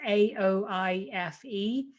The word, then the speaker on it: Aoife: So it's Aoife.